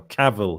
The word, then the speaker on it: Cavill: Cavill, Henry Cavill.